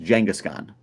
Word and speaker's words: Kangaskhan: It's Kangaskhan, pronounced Jangaskhan.